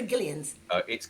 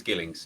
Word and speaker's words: Gillings: Gillings or Gillians? It's Gillings. It's an Gilling, old Gillings. fishing family name, and fish Yeah. have gills, so it's named after that.